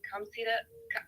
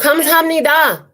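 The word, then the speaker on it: 감사합니다: You always end with saying "kamsida." I don't know how you say it. What is it? Kamsida? Oh, kamsamnida.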